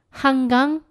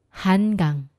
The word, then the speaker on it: 한강: 앞에 힌트가 일단 있었죠 바로 니은 받침이 지금 잘못 나왔어요 너무 듣기에 편안하고 내가 발음해도 이렇게 편안하게 했기 때문에 뭐가 잘못했지 하시는 분 계시겠지만 한번이 차이를 들어 보십시오 건강 건강 한강 한강 차이가 들리시나요 여러분 건강하세요 여러분 건강하세요 한강